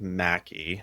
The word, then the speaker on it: McKie: pronounced Mackie.